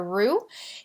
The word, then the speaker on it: roux: making a dish you often begin with a roux and and that's how you pronounce that word our Oh X's ruit's a